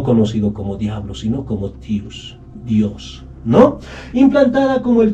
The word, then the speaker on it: tius: Y en quechua no existe la consonante D. En vez de la D, se reemplaza por la T. Y la pronunciación correcta para los mitayos era tius. Y no Dios.